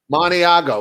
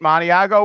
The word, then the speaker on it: Maniago: Maniago.